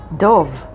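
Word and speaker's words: דוב: Here's another word, Dov. Dov means bear, and it's spelled with Daled and Bet, Dov.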